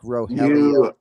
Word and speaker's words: Rogelio: And uh you know, there's nothing silent about that R or the you know, you don't turn that R to an H like Brazilian Portuguese. So, um did I pronounce Dominic Roelio?